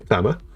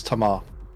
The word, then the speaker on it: Tamar: Tammer. That is not how you spell That's not how you pronounce Tamar.